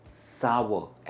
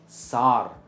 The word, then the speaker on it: sour: सावर का मतलब होता है खट्टा, और यही है इसकी सही प्रोनाउंसिएशन, सावर एंड नॉट सार।